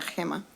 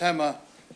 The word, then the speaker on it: Gema: Sí, mi nombre es Gema, se pronuncia Gema. My name is Hema. You pronounce it Hema.